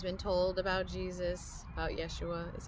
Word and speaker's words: Yeshua: indoctrinated I've always been told about Jesus about Yeshua is how I call him that's how you pronounce his name of his culture I've always